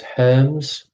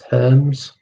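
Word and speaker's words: Hermès: designer brand created the kelly bag that was herms so h-e-r-m-e-s herms uh question three arctic king saladin where you pronounce it and thomas thumb or which type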